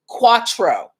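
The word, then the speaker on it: Quatreau: is pronounced quantro and this new drink is pronounced cuatro all right so um roxamilla is saying that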